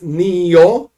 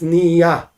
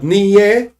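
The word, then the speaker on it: נהיה: So this blessing is Nio with a komatz. Now, if you do not use Ashkenazic pronunciation, if you use regular, like Israeli Sephardic pronunciation, is Nia. That's Nio. It's Nia. But Niye, no.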